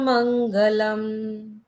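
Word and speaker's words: मङ्गलम्: का ये है उंग तो ये मंग ऐसे पढ़ा जाता है ये वैसे ड जैसा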